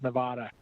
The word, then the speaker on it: Nevada: And I'm so delighted to hear that she has not given up his quest to convince everybody that the correct pronunciation of the state is Nevada.